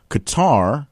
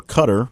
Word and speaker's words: Qatar: Qatar, or Qatar, based on how you want to pronounce it, had its ties, its